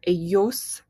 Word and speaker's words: ellos: And it follows the same thing with that y sound for the double L. So you might hear ellos, ellas, right?